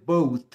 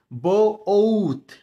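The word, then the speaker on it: both: বোথ না, এটি উচ্চারণ হবে বোথ, বো ওথ, বোথ।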